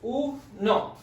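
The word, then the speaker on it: uno: and the letter o this is broken up into two syllables it's oo no so say it slowly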